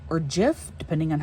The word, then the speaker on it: GIF: You know, GIF, the peanut butter company, says it's GIF, but everyone else says it's GIF. So I think the peanut butter company is just wrong.